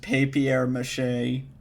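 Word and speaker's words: papier-mâché: like accents though okay it is pronounced papier mache but they're missing like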